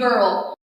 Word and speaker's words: girl: عندي مثلا كلمه girl في اي اهي بس ده exception ده استثناء اهي بعدها اي بس تتنطق بصوت الج فنقول girl.